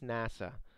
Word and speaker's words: NASA: one of them is nasa the national aeronautics and space administration it doesn't use the and is pronounced as if it is a word can you see the